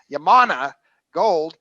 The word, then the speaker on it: Yamana Gold: i never pronounce it right how do you pronounce it yamana gold a nice mid cap company so happens to